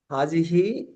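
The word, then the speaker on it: هذه: একটু মুভ করে হাজতে যাই বাকিগুলা একই এই হাজিহি এইটা একই দিস এটা হচ্ছে ফেমিনাইন হাজহি ফেমিনাইন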